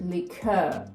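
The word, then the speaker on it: liqueur: не заморочуються вони кажуть лікер Оскільки ми бачимо у нас к ю і не читаємо а далі наше е звук е лікер мені це вимовляти легше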